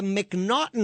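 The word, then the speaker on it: M'Naghten: In the United States, we have something called the McNaughton Rule. And it's spelled M''Nag.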